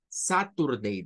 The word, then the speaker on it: Saturday: es el día sábado la primer sílaba no es la sa es la s a y la t eh ahí nuevamente el español nos hace pensar que que es sa Saturday decimos nosotros en español satur como que lo estuviéramos